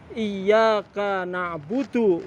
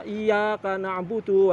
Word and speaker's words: iyyaka na'budu: Maka di dalam sholat, suratul Fatihah yang sering salah itu pada ayat yang berbunyi Iyyaka na'budu wa iyyaka nasta'in. Sering membacanya Iyyaka na'budu wa iyyaka nasta'in tanpa adanya tasdid. Ini akan merubah makna, akan merubah arti.